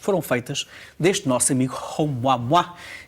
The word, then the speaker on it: Oumuamua: De facto, é mesmo assim que se pronuncia Oumuamua, é um nome havaiano, e estamos a falar daquele que foi o primeiro objeto interestelar detectado.